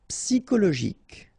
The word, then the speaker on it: psychologique: Psychologique, okay, remember it's an exception here because you've got this C-H-O. Normally we should pronounce it sho, okay, but in that case we pronounce it ko.